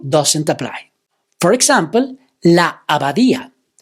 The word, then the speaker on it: abadía: For example, la abadía. Abadía is a word that has the stress on the vowel I.